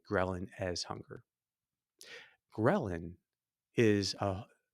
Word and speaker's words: ghrelin: What hunger really is, you can say, is our experience of a hormone called ghrelin. It can also be pronounced ghrelin, but I'll call it.